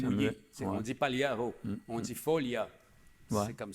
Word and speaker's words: Pagliaro: C'est comme Pagliaro, Folia, ces gars-là. Pagliaro, c'est sympathique, mais le G, c'est un L mouillé. On dit Pagliaro, on dit Folia.